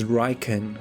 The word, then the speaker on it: Raiken: Pronounced Raiken, written with the characters for thunder and dog.